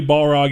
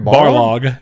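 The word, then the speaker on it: Barlog: actually on Twitter Cory Balrog you know was the one who I said his name wrong I think Cory Borlaug is his name I said balrog and I'd do that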